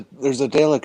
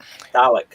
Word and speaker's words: Dalek: I see one L and I pronounce it Dalek, but that's just... English is so inconsistent. If you've ever watched the show, you know it's Dalek.